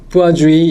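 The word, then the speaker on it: Poiseuille: 이게 무슨 이퀘이션인데 이게 뿌아주이 이렇게 읽습니다. 이게 상당히 그 불어 발음이라 불어 안 한 학생들 저는 조금 하긴 했는데 그래도 쉽지는 않습니다.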